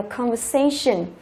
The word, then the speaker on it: conversation: Đó, đọc là conversation.